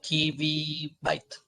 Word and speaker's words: kibibyte: Ahí sería como kibibyte. Kibibyte es la pronunciación.